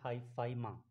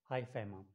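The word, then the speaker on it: hyphema: और जो लास्ट है इसका नाम है हाई फाई, हाई फा, इसको प्रोनाउंस करते हैं हाई फाइमा, ठीक है, हाई फाइमा।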